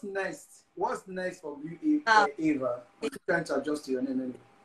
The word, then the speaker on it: Aiva: Okay, so it's pronounced Eva, not Iva, actually.